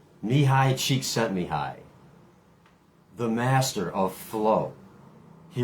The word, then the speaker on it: Csikszentmihalyi: I think his name is pronounced Mihai Csikszentmihalyi, the master of flow.